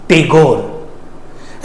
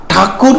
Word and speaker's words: ठाकुर: Knees of Rabindranath ठाकुर यू मे आस्क one question why आई am telling ठाकुर नॉट टैगोर actually British people टैगोर कहते थे क्योंकि वो लोगों का ठाकुर प्रोनाउंसिएशन नहीं आता था मतलब वो लोग गलत प्रोनाउंसिएशन करते थे तो वी आर इंडियन तो हम लोग क्यों गलत प्रोनाउंसिएशन करेंगे? तो मैं यही चाहता हूं उनको पहचान रविंद्र नाथ ठाकुर ही हो नॉट टैगोर।